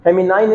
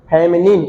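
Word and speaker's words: feminine: फेमिनाइन नहीं, फेमिनिन।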